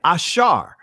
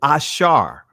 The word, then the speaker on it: ashar: Ashar. And I'm pronouncing it in the ancient Hebrew. Ashar.